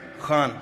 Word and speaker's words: Khan: Khan, am I saying it right? Khan from the Epiglottis.